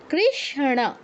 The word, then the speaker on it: কৃষ্ণ: তো এটা উচ্চারণটা কি রকম হবে? কৃষণ কৃষণ কৃষ্ণ বলা যাবে না দন্তন্যর উচ্চারণ যেন না আসে কৃষণ কৃষণ এরকম ঠিক আছে